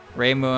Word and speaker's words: Reimu: but i like reimu putting putting a stronger emphasis on on the uh the moo reimu and marissa ray muendozzi